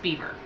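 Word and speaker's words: Biewer: I think it's spelled like beer Terrier it's pronounced beaver I don't know why it just is I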